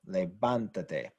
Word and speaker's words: levántate: show that it's stressed by writing an accent mark over the vowel, levántate, because this is what's stressed.